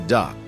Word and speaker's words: DUKW: The DUKW pronounced the duck.